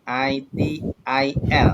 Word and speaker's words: ITIL: Bacanya gitu ya, jangan bacanya yang aneh-aneh. Tulisannya ITIL. Bacanya ITIL, pelan-pelan bacanya, oke?